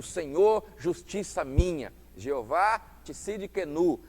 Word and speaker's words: Jeová Tsidkenu: O Senhor é a nossa justiça, o Senhor justiça minha, Jeová Tsidkenu, assim que se pronuncia, né?